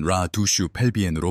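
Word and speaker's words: la douche pelvienne: 이는 라 두슈 펠비엔으로 발음됩니다.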